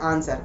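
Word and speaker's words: answer: जो है क्या है डब्ल्यू साइलेंट है इसलिए हम इसे नहीं बोलते हम बोलते हैं आंसर क्या बोलते हैं आंसर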